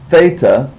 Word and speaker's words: Theta: then you have the next letter is Theta and it it will be pronounced like the th in thing so that makes the th sound anytime you read it in a in a word it'll be th Theta so let's say these